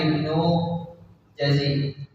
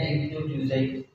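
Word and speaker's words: Ibnu Juzay: di bawah harga pasar ini pendapatnya Ibnu jazi allaham yang lebih tempat bacanya Ibnu juzaid Ibnu juzair Kab beliau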